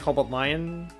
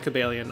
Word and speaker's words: Cobalion: welcome you always smell it's pronounced like cobalt lion i have always pronounced this as pronounced as gabelian i'm not even entirely